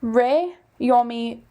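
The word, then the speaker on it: Jaume: Rey Yomi the first awards. And so I have to be careful because it's pronounced a little bit differently because it's in Valencian versus Castilian, which is what you and I think of as Spanish.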